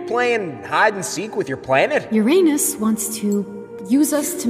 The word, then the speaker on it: Uranus: It's me, Uranus. And no, it's not pronounced Uranus. Many planets confuse the pronunciation.